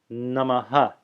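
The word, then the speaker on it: नमः: many people have heard, namaha. Namaha. Actually, I should say that with a softer echo. Namaha. Namaha. Namaha is the correct pronunciation.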